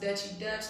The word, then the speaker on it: Duchy Duch: h y d c h y it is pronounced dutchy dutch number the thing is because people think the